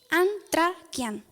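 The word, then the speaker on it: ἀνθρακιά: Hay una palabra en griego que se pronuncia antrakian, que significa fuego de carbón.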